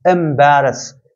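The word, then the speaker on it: embarrass: होता है टू एमेरस एमेरस इसे एमेरस पढ़ते हैं ई एम बी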